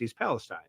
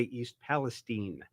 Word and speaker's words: East Palestine: name of that City I said oh that's East Palestine but if you hear them they say East Palestine I mean the so